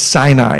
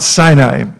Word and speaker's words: Sinai: a Jew they'll just they'll just shake it's Sinai everyone say sign I'm it's not sunny I its SIA Mount Sinai so after all of that we know about